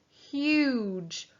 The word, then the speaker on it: huge: Huge. U-j. And the G-E is making the j sound.